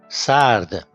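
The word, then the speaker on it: سرد: Now, s, a, r, d, sard.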